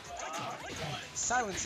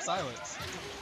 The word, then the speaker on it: Psylence: I recently found out that you pronounce it like the word silence.